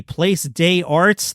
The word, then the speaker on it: Place des Arts: He will host an evening with David Letterman and special guest Will Arnett at the Place des Arts. That is how it is pronounced in French. Place des Arts concert hall, July 21st.